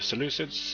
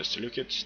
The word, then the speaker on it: Seleucids: And we are up against the Seleucids or the Seleucids, depending on how you want to pronounce it, and Rome again.